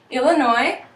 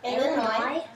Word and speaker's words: Illinois: have Minnesota Minnesota Wisconsin Illinois Illinois there's actually a silent s on the end some people pronounce it